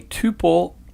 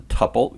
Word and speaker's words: tuple: it with parentheses and a tuple or some pronounce a couple both ways are correct is immutable we cannot